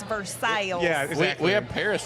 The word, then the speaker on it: Versailles: Siri or Google Maps pronounces it Versailles, and I'm like, girl, not quite. Yeah. Get the southern accent.